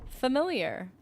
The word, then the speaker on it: familiar: my goodness you're right people say F familiar that sounds like you're about to say fermentation please don't say it like that fermenting that doesn't sound that doesn't no familiar familiar like family like familial like like fam like the fam bam not fermenting familiar there's some accents that